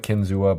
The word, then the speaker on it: Kinzua: released with is the kinzu looks like Kinzua but it's pronounced kinzu according to to case